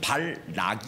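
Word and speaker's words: 발락: 아까는 발람이 라고 했죠 이 사람이 이름은 발 락 이에요 좀 발음이 좌타자 내면 헷갈립니다 선지자는 발라 미란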